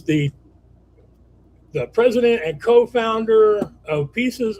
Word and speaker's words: Peaces: He's the president and co-founder of Pieces of Me, which is spelled PEACES.